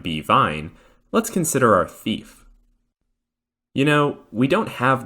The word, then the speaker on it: THF: But no matter who the thief is, they're still primarily here to represent THF, or tetrahydrofluoric acid. Pronounced thief, not thuf, obviously.